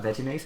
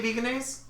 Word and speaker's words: Vegenaise: No, you say veganese? You're dumb. No. Just kidding. It's vegenaise.